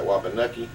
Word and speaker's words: Wapanucka: Is from Wapanucka. He continues to pronounce that Wapanucky, and I think that's just a local lore that continues that.